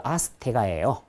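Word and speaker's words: Azteca: 아스텍은요, 영어식 발음이고 원래 그 아스테가예요. 아스테가.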